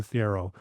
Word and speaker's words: Thiero: So Adou Thiero, again, there's Thiero is what I've heard other people say, but it's Adou Thiero, which one of the